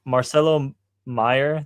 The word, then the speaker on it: Marcelo Meyer: So, Marcelo Meyer, that's how you say his name.